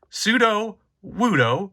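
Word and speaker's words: Sudowoodo: Then we have Pseudo Wudo, pronouncing it correctly this time.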